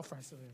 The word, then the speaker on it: Francillon: how do you say it? Oh, Francilian, sir. Francillon, all right.